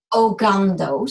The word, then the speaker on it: Ogando: Sorry, how do I pronounce her name? Ogando, sorry.